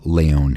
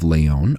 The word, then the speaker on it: Lyon: L Yo NS, but I'm using the French pronunciation of Leyon here. When the first council of Leyon opened on June 28th,